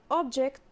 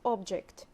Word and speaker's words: object: the same spelling but we can differentiate between them according to the stress if it's a verb we stress the second syllable but it's if it's a noun the first syllable the first one i